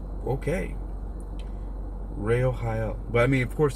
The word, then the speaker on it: Rochel: next angel looks like it's Rochelle r-o-c-h-e-l but it could have a different pronunciation let's see in in the guide here if there is a different pronunciation let's see what it says here in the angel Tower Angel Tarot is what Ray Ohio okay so that's not even anywhere close to what I said Ray Ohio it's okay Ray Ohio